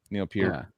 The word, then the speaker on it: Neil Peart: Is it Peart or Peart? It's Peart. But I say Neil Peart because it's easier. It's Peart. Yeah, for sure. Neil Peart. Yeah, and that's how you actually pronounce it.